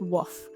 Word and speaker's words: weft: Pieces that go vertically are called warp strands, and pieces that go horizontally are called the weft, or some people have told me it's pronounced woof, the woof strand.